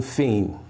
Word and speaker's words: Phine: Microphone Fiend. Instagram, Facebook, Twitter, YouTube. And Fiend is spelled Phine.